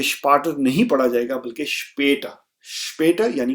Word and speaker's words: später: इसलिए इसकी जो प्रोनाउंसिएशन है वो हो जाएगी स्पेटा. स्पेटर. तो जो आ है उसको हम फ्लैट कर देंगे.